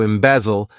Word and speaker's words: embezzle: To embezzle, this verb has 3 syllables, and the stress is on that second syllable.